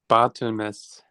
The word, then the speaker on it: Barthelmes: Oh it's pronounced Barts.